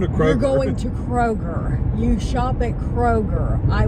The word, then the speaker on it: Kroger: Kroger's instead of Kroger. Okay, Well, this is a big one around here. This one, there's no S in Kroger, by the way.